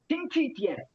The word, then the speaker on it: 星期天: ஆனா இது கொஞ்சம் நீங்க கவனமா இந்த சவுண்ட் இப்படி உங்களுக்கு மாறுது, சிங்தீன்னு மாறிடுது. அது ஆக்சுவலி சிங்சின்னு வரணும். நீங்க இது மட்டும் கொஞ்சம் கவனமா பாருங்க சார். சொல்லும் போது சிங்சிடியன் எஸ் சிங்சி டியன் சிங்சி டியன் சிங்சி.